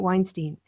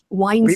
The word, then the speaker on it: Weinstein: Why do they pronounce it Weinstein? Because it's two German words, Wein und Stein, Weinstein, right?